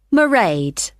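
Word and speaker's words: Mairead: you'll see my assistant morray sorry how do you spell that it's m a i r e a d marade okay got that it's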